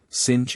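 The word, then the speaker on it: singe: pronounced um and in the same way he was taught to pronounce ape sing and tree arbra he was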